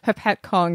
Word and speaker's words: Hopatcong: in the past about Hopatcong and how it's hard to say, and you've got to put the emphasis on the other syllable to what you expect.